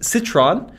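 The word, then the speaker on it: Citroën: it citroen all right so in the uk in the uk it's citroen right right here in the us if you're southern it's citron if you're maybe a little bit more sophisticated it's citroen yep uh not to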